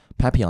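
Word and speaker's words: Papillon: 嘅，正確讀音係 pon, pappon 呢個字發已經本身係解碟。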